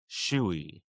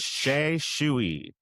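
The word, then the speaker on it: Xu: So, the restaurant is called Sha Shuy and that's spelled X U.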